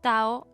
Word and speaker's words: Tao: también todavía se usa Tao Y taoísmo de cualquier forma con t o con d se pronuncia tao el taoísmo es una